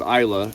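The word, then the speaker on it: Islay: I grew up on a little island off the west coast of Scotland called Isa. Some people pronounce it is.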